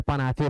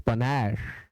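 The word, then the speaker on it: panache: अब बहुत सारे बच्चे इसे पनाचे पढ़ते हैं, पनाचे। Don't pronounce it पनाचे, इट इज पनैश।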